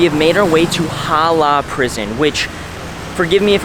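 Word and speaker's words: Hỏa Lò: I think I did mispronounce the name earlier. It's Hoa Lo Prison. Whatever I said earlier, just forget that. Hoa Lo Prison.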